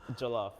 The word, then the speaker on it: Jollof: It's Jollof.